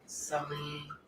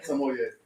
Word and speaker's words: sommelier: Some way. Not some way. Sommelier. Thank Or you.